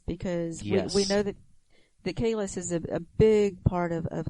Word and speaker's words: Kahless: Kahless. Yes, you have to say the SH sound at the end, even though it's spelled SS, but but they actually